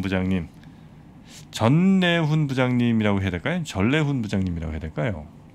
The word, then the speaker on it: 전래훈: 전래훈 부장님이라고 해야 될까요? 자음 동화로 보면 전래훈이 맞는 것 같긴 한데. 그래도 네, 니은으로 조남이시니까 그렇죠? 네. 전래훈으로 네. 네, 이렇게 발음하도록 하겠습니다.